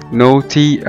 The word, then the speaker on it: naughty: وزي كلمة نوتي أو شقي، NAUGHTY، ال A جه بعد منها ال U فنطقناها O برضو زي ما احنا شايفين، نوتي نوتي أو شقي.